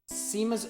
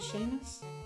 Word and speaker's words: Seamus: Is it Seamus? What? Okay. Kind of like Sean.